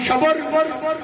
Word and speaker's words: شبر: رکھے ہیں۔ سبحان اللہ بعض تلفظ کرتے ہیں شبر شبیر مشبر، ٹھیک ہے یہ بھی، لیکن میں حسین کے وزن میں پڑھ رہا ہوں شبر شبیر مشبر۔ علی میں